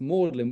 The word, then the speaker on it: Magdalen: that's where the word mlin comes from so the 14th century that word Magdalene was pronounced mlin which is where the